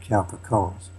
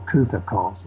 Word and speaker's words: Cowper-Coles: Okay, well, the one who headed the operation, that was Gerard Cowper-Coles, or Cooper-Coles, I think as it's pronounced.